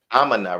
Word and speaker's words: Aminah: And so, Sister Aminah, am I pronouncing that right? Aminah? Aminah, right?